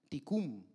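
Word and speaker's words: תיקון: En hebreo se pronuncia tikum, que significa construirlo a su diseño original.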